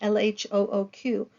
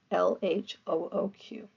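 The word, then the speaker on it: L.H.O.O.Q.: speaker and I'm not if you say l h o o q a certain way it sounds like she has a hot ass so it's ironic because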